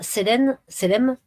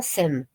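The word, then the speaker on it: سلام: Donc là, il y a une note qui dit en arabe, Selem veut dire salut, paix. Sam veut dire mort. Les Juifs de mauvaise foi saluent en mutilant le mot Selem et le prononçant Sem.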